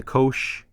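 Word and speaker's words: cosh: to stick with uh but shine is another one but cinch and then you have the Kosh the tan the Coan the sich and the K okay really getting that CH sound at the end of these and so what this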